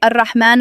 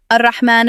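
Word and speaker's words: الرحمن: Here, generally, people make two common mistakes. They either replace the ha with ha and say Ar-Rahman Ar-Rahim, or instead of ha, they say kha and recite it as Ar-Rahman Ar-Rahim. So next time when you recite, make sure you recite it properly, Ar-Rahman Ar-Rahim.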